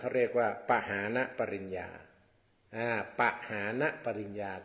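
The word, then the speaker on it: ปหานปริญญา: พุทธศาสนา เ เรียก ว่า ปหาน ปริญญา อ่า ปหา ปริญญา ก็ เขียน ประมาณ ว่า ป ปลา หอ หีบ สระ อา น หนู นะ แล้ว ก็ ปริญญา เรียก ว่า ปหา ปริญญา อ่าน ว่า ปหาน ปริญญา ที นี้ ตาม ตัว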